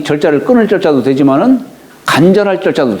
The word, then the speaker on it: 切: 끊을 절. 근데 우리가 이제 요거 일체라고 할 때도, 채자를 할 때도 채라고 읽어요.